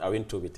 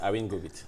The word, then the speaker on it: Awing-Gobit: You managed to pronounce my name, but it's not Awing-Tobit. It is Awing-Gobit. Awing-Gobit, yes.